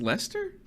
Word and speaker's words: Leicester: Oh, okay, that's Leicester. Yeah, It's spelled funny.